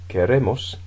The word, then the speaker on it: queremos: You've got quiero, quieres, quiere, and then queremos, the stress has shifted onto the ending.